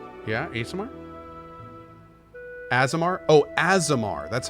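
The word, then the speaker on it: Aasimar: summer or tiefling yeah a summer azemar Oh azemar that's how you say it as amar okay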